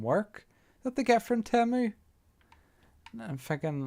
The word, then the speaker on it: Temu: But I keep getting parcels from Temu, which is Temu or Temu, whatever you call it.